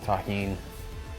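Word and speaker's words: Tajín: knows the deliciousness of Tajin that's how you pronounce this it's delicious with the addition of the tahin this corn was actually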